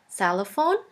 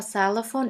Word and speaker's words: Xylophon: which is pronounced like the X in the word xylophone. The German translation for xylophone is very similar.